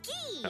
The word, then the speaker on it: Guy: own i really want to see how they pronounce his name this guy is ghee okay there we go he hails from the